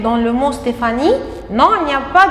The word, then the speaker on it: Stéphanie: Vous avez entendu le son feu dans le mot Stéphanie. Mais est-ce qu'il y a la lettre F dans le mot Stéphanie?